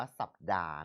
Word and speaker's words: สัปดาห์: มี ณ สัน สะกิด คำ ต่อ มา คือ คำ ว่า สัปดาห์ หรือ สัปดาห์ บาง คน ถาม ว่า บาง คน ก็ อ่าน คำ ว่า สัปดาห์ หรือ อ่าน ว่า สัปดาห์ เรา อ่าน แบบ สากล ว่า สัปดาห์ นะ ครับ ระยะ 7